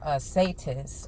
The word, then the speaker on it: Satis: So it's funny that, when we deal with this goddess that's here, Satis or Satet, is different ways to pronounce it.